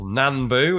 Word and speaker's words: Nambu: We've got a Nambu Type 14 there. Or Nambu, as I'm told we should pronounce it.